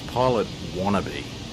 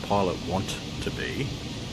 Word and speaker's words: Pilot Wannabe: It's Pilot Wannabe, not Pilot Want to Be.